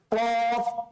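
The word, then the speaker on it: ق: কফটা আমরা যেন কাফের সাথে মিলিয়ে না ফেলি। হ্যাঁ, কফ এভাবে করে আমরা বৃষ্টি করি না, এভাবে উচ্চারণ করবেন, বাইরে প্র্যাকটিস করবেন, ভেতর থেকে, গলার ভেতর থেকে নিয়ে আসার চেষ্টা করবেন, কণ্ঠনালীর ভেতর থেকে নিয়ে আসার চেষ্টা করবেন।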